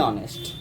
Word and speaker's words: honest: लेकिन इसका जो प्रोनाउंसिएशन आ रहा है आ इज स्वर, A is a vowel, therefore we will use here an honest, an honest man.